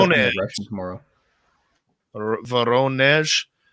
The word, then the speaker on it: Voronezh: Voronezh. The syllable in Russian words, we started in North America on the first letters, but they do the second syllable as the high pronunciation.